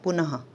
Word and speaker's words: पुनः: पुनः पुनः एक बहुत क्लियर ह नहीं होता, जैसे हमारा आधा कोई अक्षर रहता है उसी तरह का उच्चारण यहाँ ह की साउंड का आता है विसर्ग चिन्ह में।